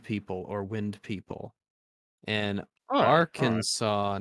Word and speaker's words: Arkansas: in Kansas differently uh Arkansas was named for the French plural of a Native American tribe while Kansas is the English spelling of a similar one since the letter S at the end of French words is usually silent we pronounce Bill Clinton's home state Arkansas um why does he